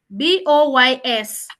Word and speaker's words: boys: BOYS. I just want to hear the pronunciation. BOYS. BOYS. Yes. Okay. Boys. Now, good. I wanted you to see that S becomes Z.